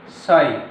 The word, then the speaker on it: psi: psi, PSI, P silent है इसमें।